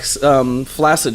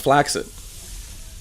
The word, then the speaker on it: flaccid: It's like flaccid should be pronounced flaccid. Should Like, it? like succinct. It's a hard C, soft C.